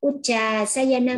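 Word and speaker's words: Uccāsayana: Cậu Phúc nhớ đọc là chữ Uccha ha. Uccha. À, trường âm chúng đọc là Uccha ha. Uccha sayana maha sayana.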